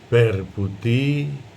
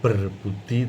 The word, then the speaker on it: berbudi: umpaminipun wonten tembung berbudi Bowo Leksono lah menika ingkang asring pengucapanipun meniko kirang tepat. Jadi sebenarnya bukan berbudi tapi ber budi. Ini sering diucapkan berbudi seperti bahasa Indonesia. Ber itu dari kata luber sebenarnya ber budi bawo leksono.